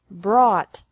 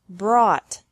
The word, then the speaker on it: brought: is the same bring brought brought buy bought bought catch caught caught fight fought fought seek sought sought teach taught taught think thought thought remember that the g is silent in these verbs verbs with three different